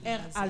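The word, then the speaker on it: raz: Herman comment non r ça s'écrit R a Z et ça se lit RA RA lre fourche à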